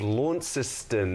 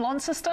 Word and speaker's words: Launceston: from the city of launceston am i saying that right launceston lawn sister i'm not sure how do you say it matt yeah you're pretty close there matty you're pretty close